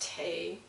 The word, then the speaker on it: The: So, what I'm here to say is that it's spelt like the, but it's pronounced Tay.